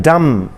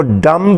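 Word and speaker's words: dumb: फिर है डम, डम, डम जो बोल नहीं सकते, जिनकी ज़ुबान बंद होती है, तो उनको डम्ब नहीं कहा जाता, डम कहा जाता है।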